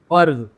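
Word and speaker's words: फ़र्ज़: और ये होगा फर्ज, यहां भी लगेगा नुक्ता।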